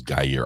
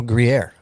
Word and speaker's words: Gruyère: So, and then I don't know how long this this is guyere. I heard this they keep this in a cave somewhere like guy here cheese. Oh Gruyère. Oh, I wasn't even saying it right.